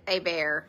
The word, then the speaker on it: Hebert: oh I was Elaine I pronounced it a bear because I I like school we had a Chevalier and a bear so they pronounced that Hebert oh gosh yeah we had a Hebert I've called Bradley Bradley Hubert all the time and it's a bear yeah Bradley a bear